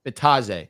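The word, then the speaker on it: Bitadze: Bitzade. How do I pronounce the center on the name? Bataze.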